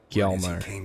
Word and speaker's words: Hjalmar: Hjalmar.